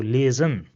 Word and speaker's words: lesen: Another word where S comes in the middle is lesen. So you see over here again, we pronounce the S as a Z in English. So lesen, which means to read.